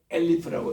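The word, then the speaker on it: אֶלֶף: 우리가 알레프라고 읽을 때는 알파벳으로 읽는 숫자지만 그거를 엘리프라고 읽으면은 천이라는 뜻입니다.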